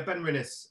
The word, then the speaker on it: Benrinnes: Ben rhinos now so is it Ben reunice is that how you pronounce it yeah Ben rinus uh 15 year old